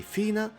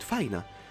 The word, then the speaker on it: Fina: Yes, a lot of you say Fina, but I've always pronounced it Faina, because it should be also the correct pronunciation according to the official transcription.